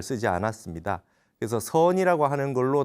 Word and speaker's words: 선: 그래서 중국 발음을 하면 찬이 되고 일본에서는 젠이라 그러죠. 그래서 우리나라에는 선이라 그래서 SEON이라고 하는 저걸 공식적으로 쓰기로 했습니다.